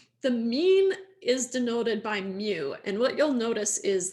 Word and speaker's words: mu: letter mu uh so this is pronounced mu and written mu right so uh if